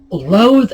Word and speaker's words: loath: Loath and loathe. This is interesting because these words are pronounced identically.